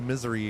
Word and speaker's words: Missouri: that's our fault why everybody that lives there calls it misery yeah I was down there working and yeah I heard one of the locals say misery and I'm like I